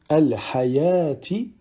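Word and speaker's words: الحيوٰة: Ensuite, dans ces deux cas, on ne prononcera pas le waw, tel que dans au-dessus al-hayati ou bien as-salata.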